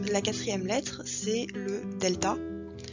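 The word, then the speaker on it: δέλτα: quatrième lettre c'est le delta delta se prononce comme un des français pareil deux écritures assez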